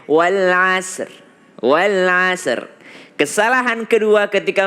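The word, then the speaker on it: والعصر: Ra adalah huruf tebal, sad bukan qalqalah. Jadi kesalahan keempat ketika membaca wal asr adalah membuat sad menjadi qalqalah.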